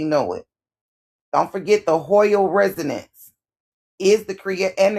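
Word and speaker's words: Hoyle: Don't forget the Hoyal resonance is the create and the creation of carbon 12 and stars. It's spelled H O Y L E.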